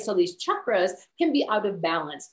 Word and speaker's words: chakra: And the chakra system, and it's pronounced Chuck, as in your best friend Chuck, because that's how you say it in Sanskrit.